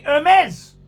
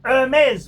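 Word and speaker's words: Hermès: another good luxury company hermes hermes with the pronounced mezz with the silent h with the magnificent birken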